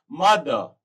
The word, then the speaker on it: mother: मदर, MOTHER, तो ई के बाद आर आ रहा है तो आर साइलेंट हो गया, this will be pronounced as मदर।